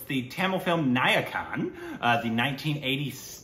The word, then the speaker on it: Nayakan: it's the Tamil film niacon uh the 198 niacon right am I saying it wrong that was yeah naak n n okay no that was right I thought I was